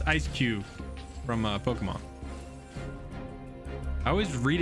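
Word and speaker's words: Eiscue: It's just SQ from, is it SQ? Ice Q. It's just Ice Q from Pokemon. I always read it SQ in my head.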